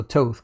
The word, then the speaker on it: Toth: By the way, Bradley, my last name is pronounced like the word oath with the T, so Toth.